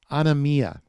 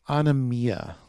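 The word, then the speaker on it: ἀνομία: the word there for evildoers or lawless is on amia now you can look that up in your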